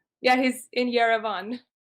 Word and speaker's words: Yerevan: Yeah, he's in Yerevan.